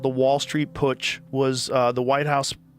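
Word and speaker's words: Putsch: The business plot called the Wall Street push was uh the White House push.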